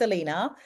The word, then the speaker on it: Alana: Inpatient is Elena um Rose. It's spelled Alana, but it's pronounced Elena.